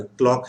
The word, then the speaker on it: quelle: वहां पर, हम आज केल पढ़ेंगे। दूसरा फॉर्म पढ़ेंगे, केल, केल। ओके, केल के कैसा प्रोनाउंसिएशन रहेगा, स्पेलिंग ये रहेंगे, स्पेलिंग ये रहेंगे, केल, केल। ओके, QELL, ओके, केल।